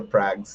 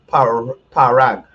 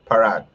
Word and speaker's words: Parag: Somebody messaged me the other day about my pronunciation of Minister Prague's name. Parag. That's what the guy said I have to say. Parag. Not Prague. Parag.